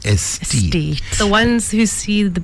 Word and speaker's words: Aesthete: M and if you don't know how to spell it as Tita said it is a weird a e s t h e t e like aesthetic. This is estee the ones who see the beauty in the world.